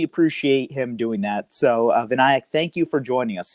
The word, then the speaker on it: Vinayak: Did I pronounce that right? It's Vinayak. Vinayak.